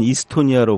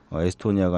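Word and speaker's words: Estonia: 그분이 발음을 이스토니아라고 하더라고요. 현지 발음에 충실하게. 그래서 그렇군요. 그 저희 세월호는 그쪽에 가니까 사람들이 다 10월이라고 부르더라고요. 네네. 자꾸 세월로 교정을 시켜줬는데 저희도 마찬가지로 에스토니아가 아니라 이스토니아라고 부르기로 서로 존중하는 차원에서.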